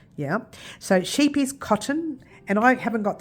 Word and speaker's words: Scheepjes: It's actually pronounced Scheepjes, but it looks like Scheepjes. Yeah. So Scheepjes Cotton, and I haven't got the label to it, but that's it.